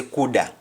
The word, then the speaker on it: coulda: to mother verb code how do you say code in jamaican you simply say kuda kuda and an example